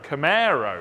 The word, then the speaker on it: Camaro: by here now via khmer camaro i'm going to pronounce it the american way and we're going to